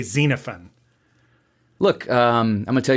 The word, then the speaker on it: Xenophon: you supposed to pronounce most people say Xena phone or xenophon because there's an O there but you would say xenophon look um I'm gonna